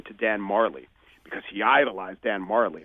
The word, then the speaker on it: Majerle: The layman might say Dan Majerle, who is this guy? But he is Dan Marley.